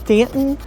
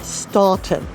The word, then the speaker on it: Staunton: this adorable small town and yes it is pronounced Stanton not ston but stick around because I have got plenty